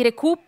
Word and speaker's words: Recup: stiamo pronunciando Recoup, all'italiana, sì.